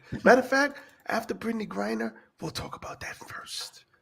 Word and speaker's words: Griner: Grinder. Grinder. Oh, Grinder. Grinder, like No, that. you Not said grinder, Grinder. Griner.